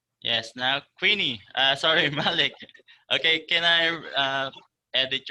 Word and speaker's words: Malik: spelling is not correct so I can pronounce that as uh Malik is that right Malik okay it's m a